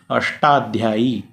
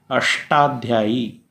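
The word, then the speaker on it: अष्टाध्यायी: आशा के साथ में Tata ढाल जैसे कहिए अष्टाध्याई अष्टाध्याई अष्ट कहने से टॉकी साथ में ही शुद्ध उच्चारण हो रहा है अ फुटर तो इनका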